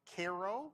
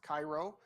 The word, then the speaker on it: Cairo: is called Egypt and you see cities like Koo not pronounced Cairo if you go down there the very few